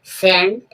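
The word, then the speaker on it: scent: ये आप देखोगे सेंट। सेंट मींस गंध एस सी ई एन टी सेंट। सेंट means गंध। यहां देखा एस के बाद जब सी आएगा तो सी साइलेंट रहेगा।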